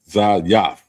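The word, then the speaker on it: זית: And it's pronounced Zayaf.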